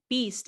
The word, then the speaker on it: Bies: at the real beast mode and it b's beast is spelled like my last name b-i-e-s it's not